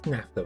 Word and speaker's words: naphtha: form of fuel retrading naphtha okay google tells me nafta nafta nafta right okay okay so